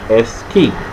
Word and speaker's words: esky: It is spelled E-Sky. That's it. But we say S-Key.